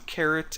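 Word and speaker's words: caret: change the class to carrot and that's not spelled like the vegetable it's c a r e t if you want to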